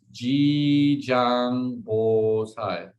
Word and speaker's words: Jijang: one so jijang gosai is it's called it's g zhang quite easy to pronounce j i j a n g b